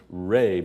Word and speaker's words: Ra: children the eye of light was raw pronounced Reay by the Egyptians when Ry Rose from